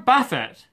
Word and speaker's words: Buffett: pronounced apple and Warren Buffett it's definitely pronounce Buffett and not buffet and he has just